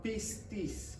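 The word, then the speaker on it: πίστις: Entonces, la palabra fe aquí y en la Biblia entera viene del griego que se llama pistis, con P, pistis. Griego, la palabra griega que se escribe cuando aparece fe en la Biblia es pistis.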